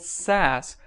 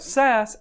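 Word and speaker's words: Sass: going to take a look at is called SAS SAS which is spelled s a SS is an acronym that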